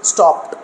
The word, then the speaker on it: stopped: Yeah, if it is added here, and we have to pronounce stopped like that.